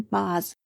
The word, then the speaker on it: Boz: he had been nicknamed moses after moses in the viktor of wakefield pronounced through the nose it became moses and then bos that is the history